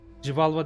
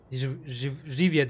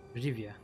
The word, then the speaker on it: Rivia: Rivalva değil yani. Tamam, yanlış hatırlamışım. Özür dilerim. Rivia diye okunuyor, öyle mi? Tamam. Tamam. Teşekkür ediyorum düzeltme için. Rivia.